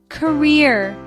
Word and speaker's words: career: Career. Career. Two syllable word. Stress is on second syllable.